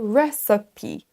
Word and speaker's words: recipe: Le premier son sera un son E, re. Ensuite, on a un son schwa, donc le petit E à l'envers. Là, c'est un son E très léger, recipe, recipe.